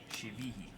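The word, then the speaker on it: Chivilli: Angel Shivihi. That's how you pronounce his name. Shivihi.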